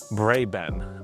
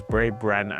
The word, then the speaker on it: BraeBen: course and obviously I'm talking about Brayben or as I usually always say it's Bray Bren. I don't know why I say it like that, but Brayben.